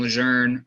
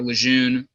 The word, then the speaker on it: Lejeune: by the name of John Lejeune, or Lejeune, for those of you not as familiar with the French pronunciation of his name.